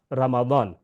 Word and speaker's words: رمضان: Mention بھی کیا ہو، را یعنی رے کے اوپر زبر ہے، میم کے اوپر زبر ہے، زواد کے اوپر بھی زبر ہے، رمضان، رمضان نہیں ہے یہ رمضان۔ اور دوسرا یہ ہے